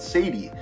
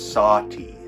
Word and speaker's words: Sati: This is called Sadie, and I believe that's how it's pronounced. Is it Sadie? I think there's actually a pronunciation in the book. Oh, sorry, it's Sati.